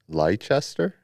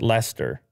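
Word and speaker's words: Leicester: want to see you try lychester that's lester is it lester i think so okay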